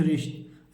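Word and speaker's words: wrist: बच्चों देखिए डब्लू आर आटी इसे क्या पढ़ेंगे रिस्ट रिष्ट माने क्या होता है कलाई होता है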